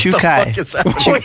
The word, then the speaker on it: Czukay: Czukay.